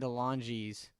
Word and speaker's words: DeLonge: Oh wait, Um, that sounds like Jared DeLonge's thing. that's how you pronounce his name.